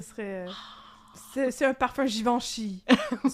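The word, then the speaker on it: Givenchy: Ce serait c'est c'est un parfum givanchi. Ça se prononce pour vrai. Givanchi. Ouais. Ouais. OK. Je trouve ça weird de que un G qui est doux. Moi je pensais citivanchi. Non, c'est Givanchi.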